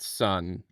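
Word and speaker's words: Sunn O))): Also, it's pronounced sun.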